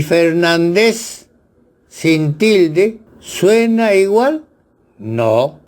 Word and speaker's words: Fernández: Me refiero a estos apellidos: Fernández, correctamente escrito, con tilde en A de nan, y Fernández sin tilde.